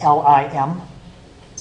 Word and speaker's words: lim: describe what's happening is this notation it says l i m it says f of x and that's pronounced the limit of f of x remember